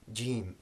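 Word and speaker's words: جيم: So it is a hard sound, jim, for Jack and Jim, all right?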